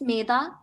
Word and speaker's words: Maida: Is it Maida or Maida? Am I saying it right? It's Maida, but you can call me.